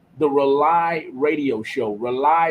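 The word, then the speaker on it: RAULI: Rely is spelled differently. It's spelled R-A-U-L-I on purpose, and it stands for rebooting and uniting lost energies.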